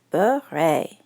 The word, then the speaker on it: beret: You say it like this, beret.